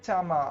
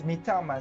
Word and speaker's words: mitama: in the village so mama oh sorry I was pronouncing it wrong so it's mitama so Mama actually The